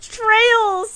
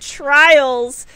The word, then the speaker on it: Trails: oh trail is it it's trails of cold steel and i've been calling it trials i thought it was trials like a raid